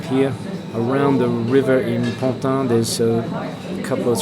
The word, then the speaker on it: Pantin: For people at home that are thinking to invest over there, not that I'm sponsored by Pantin or anything, but it's spelled not really like it sounds. It's Pantin.